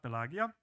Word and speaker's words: Pelagia: pronounced and actually pelagia would be how the ancient Romans would pronounce it so this is classic Latin translation while the the